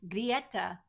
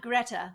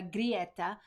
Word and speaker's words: Greta: So the first one, and we pronounce her name the way we've heard her pronounce it, Grieta Thunberg, right? So not Greta. She doesn't go by that. She goes by Grieta. That's why we sing now Grieta with all those three syllables.